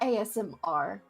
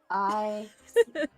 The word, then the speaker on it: Aasimar: It's like Aasimar. No, not ASMR. Aasimar. Okay, you guys, you're not helping in chat. But another When did they ever help? Helpful? That's a joke. ASMR. ASMR? Aasimar?